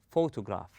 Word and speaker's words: photograph: rest of the word we say photograph we stress on the first syllable then we go easy some of the words